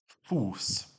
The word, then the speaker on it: Fuß: Fuß. Sounds like an S, really.